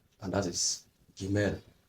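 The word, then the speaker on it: גימל: All right, so let's have the third letter, and that is Gimel. Gimel.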